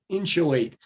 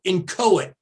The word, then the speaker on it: inchoate: new word for you it looks like inchoate doesn't it inchoate but pronounce it in cohen so let's call this